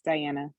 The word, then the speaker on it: Diana: Is it Diana or Diane? Am I saying? I feel like I say it wrong every time. I'm unmuted, right? No, you said it right. It's Diana.